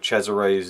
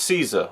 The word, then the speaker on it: Cesare: read the character of Cesare's name on the subtitles, obviously it's a German film, it looks like it's pronounced Caesar or César, but apparently from what the commentary tells me it's Cesare.